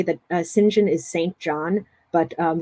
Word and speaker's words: St John: I should say that singen is St John but um this is British pronunciation so as I tell my students you have to pretend that it's pronounced s i n j i n singen the most extreme